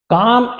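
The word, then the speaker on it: calm: attractive दिख रही थी काम एंड कलेक्टेड एल साइलेंट काम एंड कलेक्टेड कंपोज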